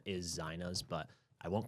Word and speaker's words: Zeina: So it is pronounced Zeinas, but a lot of people say Zeinas or even Zainas.